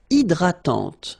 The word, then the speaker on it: hydratante: Une crème hydratante. So remember, H is not existing, and then this Y is pronounced like I. Hydratante. Okay, don't insist on the final E, and this is nasal. Hydratante. Un coupe-ongles.